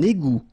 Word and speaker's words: égout: Un égout. Okay, little link between the two. Un égout. Final T, not pronounced.